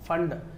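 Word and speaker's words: Pfund: यू एन डी फंड P silent है पफंड नहीं पफंड ना है फंड फंड सीरीज और यदि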